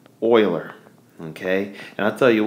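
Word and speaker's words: Euler: not making this up it is spelled U or I'm sorry e u l e r but it is pronounced Oiler okay and I'll tell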